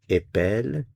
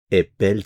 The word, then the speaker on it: épelle: Notice the change in the pronunciation of the E. Épelle, épelle, épelle, épelons. So we go from E to E. Épelle, épelons, épelons, épeler, and then back to épelle.